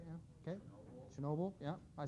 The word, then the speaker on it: Chernobyl: the nuclear accident and Chernobyl right yeah okay Chernobyl yeah I said it wrong before yeah looks